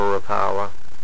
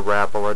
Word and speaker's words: Rapala: There's a Smithwick there and a Rapala. Or Rapala, depends on, I guess, what you're taught growing up, how to pronounce it.